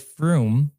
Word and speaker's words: Frum: said that the word froome is actually pronounced like the word broom in tanes so john